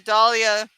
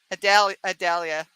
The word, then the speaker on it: Adalia: Oh, that Dahlia, the Dahlia, Adalia. I'm saying it wrong. It starts with an A.